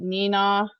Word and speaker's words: Neenah: You're going to Columbus, Evansville, Kalamazoo, and do you pronounce it Neenah? Yeah, you got it.